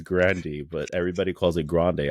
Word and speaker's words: Grande: called it Grande cuz that's just how we pronounce it but it's really Grandy oh yeah it's Grandy but everybody calls it Grande obviously because it's